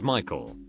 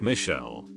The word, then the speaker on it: Michael: and again this girl was adamant it was pronounced Michelle. Mom, bemused, said something along the lines of "It's literally a name from the Bible. It's pronounced Michael and has been for thousands of years."